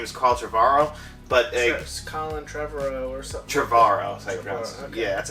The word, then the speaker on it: Trevorrow: But Colin Trevorrow or something. Trevorrow, that's how you pronounce it.